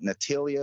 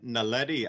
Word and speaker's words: Naledi: I can never pronounce it. You were talking about Natalia or something like that. They spell it Naledi, Naledi.